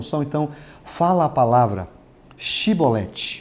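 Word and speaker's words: Shibboleth: palavra aí vem de falar shiboleth só porque eles falavam se volete OK tá escrito aqui vai círculos E então lhe dizia e depois chevrolets porém ele dizia sibolete é porque eu não podiam pronunciar assim bem então pegavam dele e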